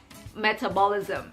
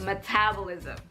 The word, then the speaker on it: metabolism: lavender instead of lavender i used to say metabolism instead of metabolism you see for a